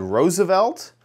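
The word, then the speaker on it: RSVLT: very fancy nice company called Roosevelt um and they they spell it really weird oh my gosh I spelled it right and I am so excited about it it is spelled oops and I don't have the capture uh correct so let me grab this but it's spelled RSV LT there's no vowels okay so uh anyway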